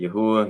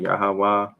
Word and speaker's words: Yahweh: Some people pronounce it Yahuwah, Yahweh, Yao.